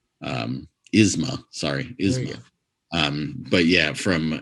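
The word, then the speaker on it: Yzma: Don't get me wrong, I love Eartha Kitt, especially when she's playing Isla. Yes. Why can't I say her name? Isma.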